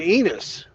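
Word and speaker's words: Ennis: going in Texas I'm going to enus which rhymes with penis well that's right around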